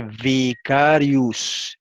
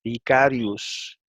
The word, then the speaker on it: vicarius: Sin embargo, al principio suena V y después suena U. ¿Ve? Ahí dice vicarius, vicarius.